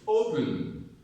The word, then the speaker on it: open: Open, open, open, open, open, open. So the stress is on O because we do not say open, open, we say open. Open the door, not open the door.